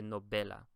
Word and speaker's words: novela: The second to last syllable is the VE. And so I would say novela. I would never say novela. I always say novela.